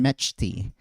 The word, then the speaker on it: Mechty: It took me a while to realize that you actually pronounce the ch in metchi.